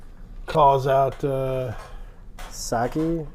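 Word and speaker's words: Psaki: Calls out uh Saki is the P silent.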